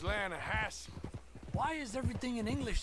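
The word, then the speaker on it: Lannahechee: the other day I rode down to the lahat river I caught some Beau L don't you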